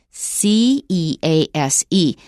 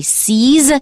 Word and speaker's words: cease: C E A S E. Now, I've warned you that S is often pronounced as Z. But not in this word. It is still s.